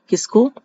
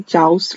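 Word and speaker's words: chaos: इस दिखने में ये चाउस लग रहा है, लेकिन चाउस नहीं है, इसकी प्रोनाउंसिएशन है कैस।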